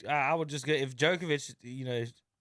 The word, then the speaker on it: Djokovic: would just get if djokovic you know there's no d and djokovic then i i'm sure